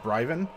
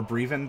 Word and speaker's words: Bryven: name it should be super elvish like sale in sale in Brighton sure or or breathin depending on how you want to pronounce it she's not gonna get